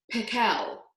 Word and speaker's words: Patel: pickle actually his name was dr. Patel with the accent on the second syllable but that wasn't why everyone called him dr.